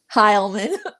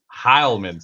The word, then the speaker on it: Heilman: Heilman. Heilman. See, I butchered the fuck out of it earlier.